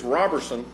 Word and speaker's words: Robertson: talked about that, and he said it's Robertson. I told him, I said, I keep saying Roe because I have a gentleman in my Sunday school class that it's spelled the same way, except that he pronounces it a long O versus a short O.